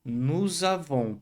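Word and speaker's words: nous avons: E não pronuncia esse S final do Avon. Nos avon.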